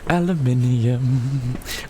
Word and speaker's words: aluminium: Uh, four, five, aluminum.